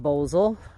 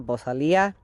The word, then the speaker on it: bosal: Challenge and that is the bosal or pronounced boosel and I've also heard the vakos always call it the bosia so take your pick whatever but basically it